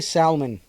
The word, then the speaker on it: salmon: Go ahead and say salmon. Pronounce the L. Nothing matters anymore.